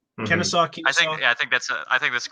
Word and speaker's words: Kennesaw: Kennesaw.